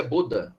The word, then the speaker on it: Bodin: Jean Bodin, a pronúncia Bodin, francês, um sacerdote francês que, ao lado de outro sacerdote francês chamado Jacques Bossuet, eles vão conceber a teoria do direito divino.